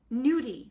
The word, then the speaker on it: gnudi: And then we're going to also make nudie, which is spelled g n u di, and it is like a nyaki, but not made with ricott potato.